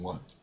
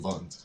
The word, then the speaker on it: Wundt: which was started by Wilhelm Wundt, or Wilhelm Wundt, if you want to be technical with it, proper German pronunciation.